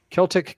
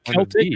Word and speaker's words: Celtic: Is that Celtic or Celtic? Sorry? It depends if it's a nationality or a basketball team.